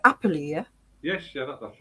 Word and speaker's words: Apperley: Apperley, yeah? Yes, yeah, that's right. Yeah. Apperley, okay.